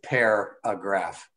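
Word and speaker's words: Pairagraph: group but it's it's spelled paragraph with an extra eye after the so it's pair a graph it's really very interesting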